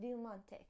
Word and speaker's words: Diamante: You got to say it like that, Diamante.